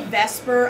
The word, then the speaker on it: VSEPR: you see this acronym which we say Vesper I know if you're actually going with its pronunciation it would be the supper but we just don't say that agonize okay does anybody